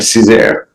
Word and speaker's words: Cesar: Did I say it correctly? Is it Cesar? That's right, Cesar. Cesar.